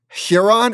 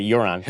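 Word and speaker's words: Huron: how do you sp how you pronounce that first one again hiron is it how do you spell it yeah you said uron I said UR all right the H is silent did I miss no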